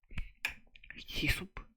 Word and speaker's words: hyssop: Passover, and you should take a bunch of hyssop. What the fuck is hyssop? How do you pronounce that shit?